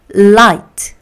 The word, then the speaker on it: light: l은 자 그 다음에 igh에서 i만 발음이 되고 gh는 발음이 안 돼요 I 마지막입니다 합쳐서 라이트 그죠 gh 발음 안 돼요 어 그래서 아이가 장모음으로 가고 light 다시 한번 라이트 다시